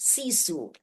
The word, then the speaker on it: sisu: You know, later on in my doctoral program, I learned the word sisu. Not sure if you're familiar with c pronounced cisu.